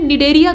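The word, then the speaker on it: Cnidaria: cucumber ये असल में नीड एरिया कुल से sindheria जो कुल है मतलब इसमें साइलेंट रहता है कुल से बिलॉन्ग करता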